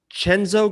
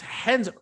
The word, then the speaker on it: Renzo: Is it Chenzo Gracie? Who's Henzo? Renzo? How do you say that? It's Henzo. Where did you get a Chenzo? I mean, you're trying to make a joke, but how'd you get the CH?